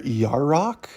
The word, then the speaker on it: Yarok: Y is for Yarok, I believe it's how it's pronounced.